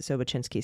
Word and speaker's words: Sobocinski: So just to name a couple here, we have, of course, Sobocinski, excuse me, however, I feel like you pronounce it Sobocinski.